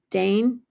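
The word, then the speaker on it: Degn: Lisbeth Dane, I think is how you pronounce it, D-E-G-N.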